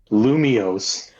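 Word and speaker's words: Lumiose: It's like Luminous City, right? But, uh, yeah, you're even you're still saying the city name wrong. Well, that's what Yeah. Luminos. Luminous. Luminos, Lumios, whatever, man.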